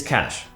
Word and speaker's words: cache: do see it may end well that's your pronounce it's cash okay take it easy and let's take a